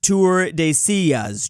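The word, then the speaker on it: Tordesillas: It's pronounced Tour de Sillas, Drew.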